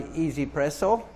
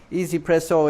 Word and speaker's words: 1Zpresso: buy at the moment uh it's made by easypresso easypresso is that's how it's pronounced it's one z pressle uh easypresso are